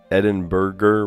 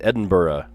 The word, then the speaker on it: Edinburgh: Eden Burger with a hard G sound. Burger. That just sounds funny to me because this the this the city is pronounced Edinburgh. You don't pronounce the H.